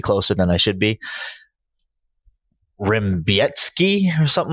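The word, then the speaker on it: Rebecki: but if you're listening the last name is spelled like Rebecca r-e-b-e-c-k-i so can you play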